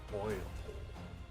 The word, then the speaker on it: Poipole: Poi, or like rhyming with toy pole. Poipole. I think it sounds more like purple, since it's also purple. That's at least my thought. Poi like poison, and then pole like pole.